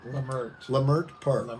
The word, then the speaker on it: Leimert Park: But I'm in Los Angeles at Willie's home, and we're in Leimert Park. Is that how you say it? Leimert Park, right.